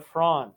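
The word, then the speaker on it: Fronde: so there would be some rebellion amongst the lower nobles from 1649 to 1652 and this is known as the frond which is spelled fro and f-r-o-n-d-e and when this happens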